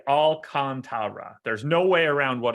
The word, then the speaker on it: Alcantara: cubs and reds okay the baseball reference pronunciation guide on sandy alcantara says what i said look at the difference between raul alcantara and sandy alcantra and how they say to pronounce it all right so sandy is definitely all kantara there's no way around